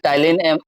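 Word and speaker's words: Ptyalin: या salivary amylase या टाइलिन, P silent रहेगा इसमें, टाइलिन एमाइलेज, ये टाइलिन जो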